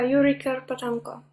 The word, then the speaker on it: Yuriy Kerpatenko: And I suggested that we dedicate this talk tonight to Yuriy Kerpatenko. Do I pronounce it correctly, Nataliya? Yeah, Yuriy Kerpatenko.